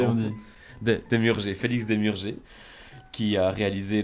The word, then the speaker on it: Demurger: de ton vrai nom, Félix Demurger, comment on prononce, Démurger, on pardon? dit. Demurger, Félix Demurger, qui a réalisé le segment de